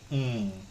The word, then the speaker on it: Karasta: Karasta. Karasta, and then music we spell it M-U-S-E, not I, M-U-S-E-T.